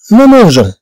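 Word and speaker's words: mangeons: اشنو غنديرو حنا باش نحافظوا على النطق ديال لو فيغ مانجي؟ هذا لو فيغ مانجي ماشي لو فيغ مانجي. معنو نقول نو مانجون، اذا طبعا نضيف او هنا، اذا حتى نقول نو مانجون.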